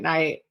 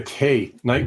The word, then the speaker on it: Knight: And that's night, as in, white knight, K-N-I. With a K. Night with a silent K. It's Knight. Knight.